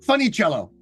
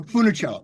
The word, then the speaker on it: Funicello: and I funich cello is that how you pronounce the name yeah funny cello no Funicello yes fich cello yeah um and there there